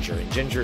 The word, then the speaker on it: Jinjer: excuse me called Pisces and it's by Jin Ginger is spelled j-i-n-j-e-r now if I knew anything about